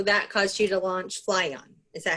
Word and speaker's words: Flyion: fascinating and so that caused you to launch fly on is that how you say it about the